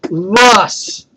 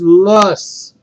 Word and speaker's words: loess: This next word is pronounced Luss. Loess. Luss. Now, Luss is also comes from a glacier.